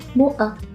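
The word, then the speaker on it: moʻa: Moa, avec la glottale, c'est important de bien le prononcer.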